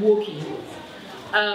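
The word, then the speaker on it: Wokie: So, Madam Woki Masakoi. So her name is spelled.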